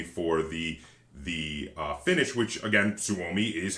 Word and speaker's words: Suomi: and the Suomi for the Finnish, which, again, Suomi is how you say Finland in Finnish.